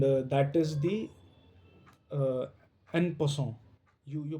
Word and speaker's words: en passant: There is also one very special rule which is uh very unique and uh that is the uh npon. You you pronounce it is a French word.